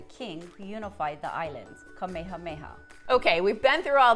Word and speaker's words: Kamehameha: named after the king who unified the islands, Kamehameha.